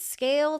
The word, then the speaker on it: SCAYLE: You know your platform stinks, so visit Scale today. That's SCAYLE. Yes, the Y is silent because you never have to ask why Scale isn't performing.